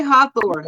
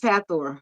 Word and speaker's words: Hathor: I say Hawthor, but it is Hatheror. Hatheror is a goddess of um creativity in Egypt and they pronounce it Hatheror.